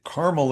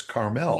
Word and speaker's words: Carmel: Just like my sister lives in Carmel, Indiana. Oh, that's another one. But, if you're in in California, it's Carmel.